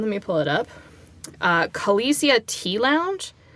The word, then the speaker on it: Kaleisia: called, hang on, let me pull it up, Kalesia Tea Lounge. It's spelled Kaleisia Tea Lounge.